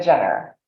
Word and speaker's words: Gener: I'm also on LinkedIn and my last name is spelled g-e-n-e-r Jenner so those are the best ways to find